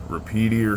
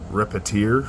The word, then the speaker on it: Repetier: Then from there you can select whether you want OctoKlipper, OctoPi, Repeater server, or Repetier server, I believe.